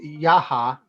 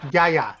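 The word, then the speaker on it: Yahya: Rani Yaha, Yaya. There we go. It's Yaya. There we go. I always forget how to pronounce his last name. It's Rani Yaya.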